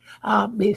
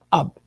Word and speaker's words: Ab: Por eso cuando nosotros decimos Ab, en la Kabbalah es padre, padre de todo, como también se le puede llamar a Dios padre. Ab. Padre divino, o lo que sea padre, es como se pronuncia.